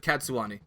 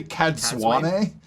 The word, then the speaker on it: Cadsuane: here, the introduction of Cadsuane. Or Cadswain. How do you pronounce that one? Did you just say Cadswane? Cadsuane. It sounds like Japanese, doesn't it? It's Cadswain.